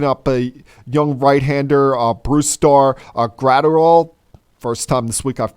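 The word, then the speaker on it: Brusdar Graterol: Red Sox picking up a young right-hander our Bruce Starr a grad or all first time this week I've pronounced that name correctly and with the twins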